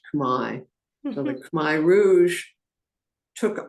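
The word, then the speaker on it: Khmer: transliterated the Cambodian what they heard they heard Kare but really it's pronounced Kai so the kai Rouge took over they were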